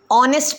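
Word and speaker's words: honest: लगाया मैं बताती हूं ऑनेस्ट के आगे एन इसलिए लगाया बिकॉज वहां पर एच साइलेंट है हम पढ़ते वक्त उसे ऑनेस्ट पढ़ते हैं नेस्ट नहीं पढ़ते इसीलिए द वर्ड एन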